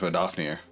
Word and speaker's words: Vedrfolnir: Pronounced Vedrfolnir.